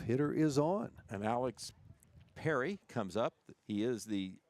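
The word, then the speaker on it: Perie: One ball in one strike to Alex Perry. Spelled P E R I E but spelled like or sounds like the Perry's we have here in Jackson.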